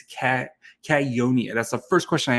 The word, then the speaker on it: Cagnoni: And yes, it's Cagnoni. That's the first question I asked him, is how to pronounce his last name.